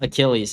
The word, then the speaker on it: Achilles: Someone said it's pronounced Achilles.